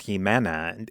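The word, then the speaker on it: Jimena: the entire film either but her name's Hima in Spanish it's not a that complicated of a name to say and that I think it's they use the X spelling in her name instead of a j that was just a spelling convention in that in Northern Spain so I don't know where they got that pronunciation from but as far as I know her name was just Hima okay well well we'll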